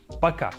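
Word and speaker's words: пока: do that the very first one is Baka Baka super simple in the pronunciation Baka it means by and it is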